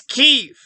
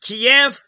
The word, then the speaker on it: Kyiv: And it's Kyiv. It'll always be Kyiv. Kiev, why 2 syllables? It's too clunky. Why so many goddamn syllables?